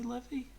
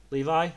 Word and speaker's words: Levi: Is he Levy? Yeah, he's Levy. Levi?